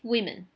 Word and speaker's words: women: If we have more than 1, we say 5 women. The pronunciation is totally different here. 5 women, W-O-M-E-N, women.